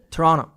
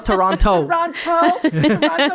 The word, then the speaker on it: Toronto: Pourquoi faut pas prononcer le deuxième T. Toronto. Toronto. Toronto. Exactement. OK, Toronto. Pas Toronto.